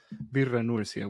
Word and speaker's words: Birra Nursia: a little bit of history, and maybe Nursia, Birra Nursia would be the good.